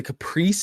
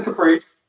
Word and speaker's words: Caprice: uh is it a Caprice is how you actually pronounce it or is it a Capri it's the Caprice okay it's a Caprice part of me I